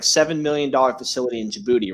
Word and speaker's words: Djibouti: million dollar facility in Djibouti right Jim booth in the day the D is silent phrase I can't I